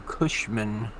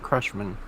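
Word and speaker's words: Cushman: to the one coming into kushman not crushman so it so it is kushman okay I thought I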